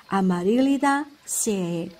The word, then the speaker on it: Amaryllidaceae: complicated name, which is Amaryllidaceae. The trick here is to read these complicated names by separating the syllables into groups. In this case, I make it like three words out of one. Amaryllidaceae.